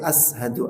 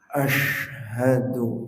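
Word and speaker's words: أشهد: Jangan sampai ashadu an la ilaha illallah. Harus besar. Ashhadu an la ilaha illallah. Itu menentukan keabsahan sholat. Ya, menentukan keabsahan sholat. Artinya kalau bacanya ashadu bisa tidak sah sholatnya karena maknanya berubah.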